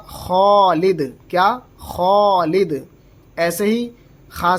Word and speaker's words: خالد: ہیں ہم خالد، تو ایک تو ہوتا ہے خالد، خالد نہیں، یہ غلط ہو جائے گا، اصل تلفظ ہوگا خالد۔ کیا؟